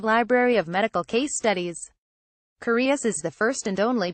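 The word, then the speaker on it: Cureus: of all things TurboTax the courious Journal of medical science that's pronounced curious is the brainchild of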